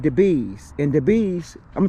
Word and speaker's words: DeBuys: So this is the Bees. It's, even though it's spelled Debuys, as in D-E-B-U-Y-S, it's spelled Debuys, but it's pronounced the Bees, and I think that may be French, and excuse my French.